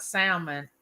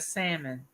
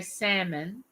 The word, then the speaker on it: salmon: said mama is salmon the l is silent and i said well